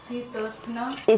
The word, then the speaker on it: शीतोष्ण: आगमनी में मात्रा स्पर्शस्तु कौन्तेय शीतोष्ण। सी है कि क्या है? शी, SHE इंग्लिश में शी।